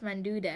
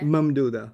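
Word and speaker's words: ممدودة: See, I don't know how to say the Alif Manduda. Mamduda. Mamduda. Mamduda, that's it. Manduda. I said Manduda. Alif Mamduda. Think of it as ma'am and dude.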